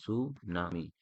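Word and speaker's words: tsunami: देखिए सुनामी को लिखते क्या है, इसमें टी साइलेंट रहता है। इसमें क्या रहा है, जापानी शब्द है, टी साइलेंट रहेगा, ऐसे लिखते हैं सुनामी।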